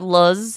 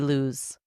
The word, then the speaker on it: Luz: I think you said Luz, and it's supposed to be Luz. Luz.